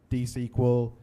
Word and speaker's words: DSQL: The other part of it is that nobody, even within AWS, seems to agree on whether it's D-SQL, DSQL, or the way I'm going to pronounce it, D-Squeal. So if they don't give us proper naming things, then I'm just going to call it D-Squeal.